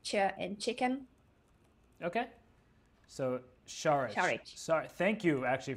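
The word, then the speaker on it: Šarić: Sharich. Say it again. Sharich. Sharich. So the first letter has a thingy on the top, so that's not an S, but it's like sh in sheep, I would say.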